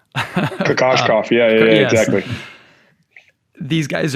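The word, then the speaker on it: Kokoškov: You've mentioned a couple, Steve Donahue, Igor, I always butcher the last name, Kokoskov. Kokoskov, yeah, yes.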